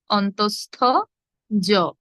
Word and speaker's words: অন্তঃস্থ জ: আমি চ্যাট বক্সে লিখেছি, দেখুন উচ্চারণ হবে অন্তঃস্থ জ, অন্তঃস্থ জ, অন্তঃস্থ জ।